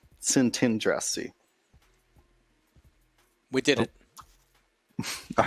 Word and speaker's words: Szentandrassy: Szentandrassy. Okay, so the T is in the second syllable. Szentandrassy.